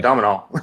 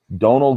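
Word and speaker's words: Domhnall: Oh, I've been saying Domino. Yeah. So have I. It's like this is. But I went and looked up how do you? It's one of those weird Irish Welsh pronunciation. Donal Gleason.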